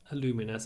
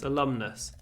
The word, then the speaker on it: alumnus: use the word alumni I am an alumnus not aluminous alumnus we are alumni of and